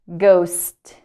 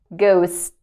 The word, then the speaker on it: ghost: garage okay gather gather ghost so in this case the second letter H is silent ghost ghost okay the next